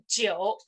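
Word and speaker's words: 九: is the biggest of the cardinal number and pronounced as the jio okay number nine in chinese is is jio right and this one is has the same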